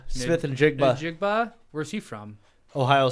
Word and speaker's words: Njigba: Njigba. Smith and Njigba.